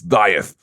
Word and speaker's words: Dieth: from dith here yeah the correct way to say the band name it's dieth um I'm going to